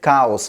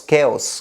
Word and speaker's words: chaos: causes a little bit cows chaos chaos is the right pronunciation in this field so